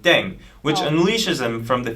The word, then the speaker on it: Ddaeng: playing with language now the pronunciation of deng is similar to thang which is the slang of thing in english right last but not